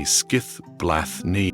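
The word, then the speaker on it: Skíðblaðnir: The first and perhaps most versatile of these is his wondrous and sentient ship Skidblad, pronounced roughly Skiith Bla.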